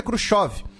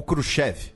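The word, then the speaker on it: Khrushchev: o cargo é o Nikita kusov ou krushev dependendo da pronúncia que você escolha nesse caso As duas são aceitas tá antes que Fale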